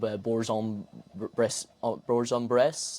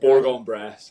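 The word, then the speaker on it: Bourg-en-Bresse: Um yeah, well, we'll start just in with your obviously moved to a new club, Bourjon Breon Breast. Am I pronouncing that? Borggon Breast. Yeah, Borggon Press.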